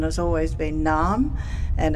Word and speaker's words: Narrm: going to learn and but for me the pronunciation has always been numb and it's always been spelt panmei as you'll